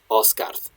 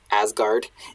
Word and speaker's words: Asgard: Ok Osgards Jor, and the chieftain of Osgard, of what we tend to pronounce Asgard in modern English, Osgard, the realm of the gods. So again, pretty unambiguously Odin here.